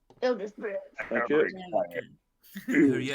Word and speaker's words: Eldritch Blast: Oh, I'm just gonna try Eldritch Blast to see what it does. Yeah. Well, you didn't say it properly, Donna. Eldritch Blast.